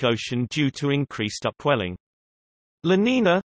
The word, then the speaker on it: La Niña: La Niña, Spanish pronunciation, La Niña, is a coupled ocean